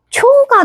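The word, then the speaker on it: ちょ: 치에다가 요음을 요로 넣어주시면 치, 요, 치요, 치요, 치요, 치요, 치요, 치요, 치요, 치요. 초가 됩니다. 여러분들 여기서 포인트를 이해를 하셨나요?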